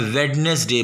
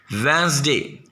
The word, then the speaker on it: Wednesday: वेंसडे अक्सर लोग बहुत कम बोलते हैं, वेडनेसडे बोलते हैं, ये रॉन्ग है। सैटरडे बहुत कम सुनाई देता है, लोग सैटरडे पढ़ते हैं, ये भी रॉन्ग है। तो please pronounce correctly. वेंसडे, वेंसडे में डी साइलेंट है।